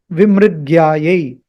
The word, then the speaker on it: विमृग्यायै: Remember, this is to be pronounced as Vimṛgyāyai. Vimṛgyāyai, not Vimṛgyāyai. Don't say Mṛgyāyai. Or don't say Vimṛgyāyai. That is also wrong.